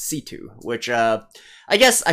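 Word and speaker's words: C.C.: for also reminding me that it's not actually pronounced cc it's pronounced situ which uh i guess i should have paid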